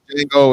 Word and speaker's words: Django: That's the Scandal, Django, and all that. Kerry The Washington. Last Dance. Tango. The D is actually silent.